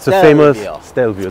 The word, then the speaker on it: Stelvio: It's Stelvio.